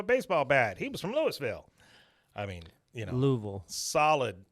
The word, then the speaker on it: Louisville: louville it's louville Louisville you ever heard him pronounce it people like they call louville L it didn't even sound like it's supposed to be like a few syllables they just kind of make it Lou mhm M uh and